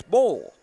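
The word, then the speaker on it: Boll: I'd been pronouncing their name ball, but it's bowl. It's B O L, but it's pronounced bowl like bowling.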